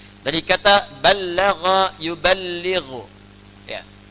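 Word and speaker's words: بَلَّغَ: Dari kata ballagha yuballighu. Ya. Ballagha dibacanya, bukan bahasa Sunda balaga, ya.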